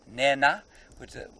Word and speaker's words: nena: A slightly aspirated H or N. So it's Nena. Look. They don't really mind if you don't say the aspiration. A very strict Shangaan language teacher might be, but you can pronounce it N-E-N-A if you're not in the sort of Shangaan land that we're in now.